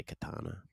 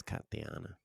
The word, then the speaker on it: Katiana: I keep I keep looking at and want to say Katana, but it's Katiana.